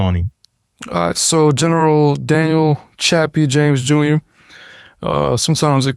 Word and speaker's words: Chappie: Well, me being stationed on JBAB Air Force Base it was very important to me that we talked about General Chappie James.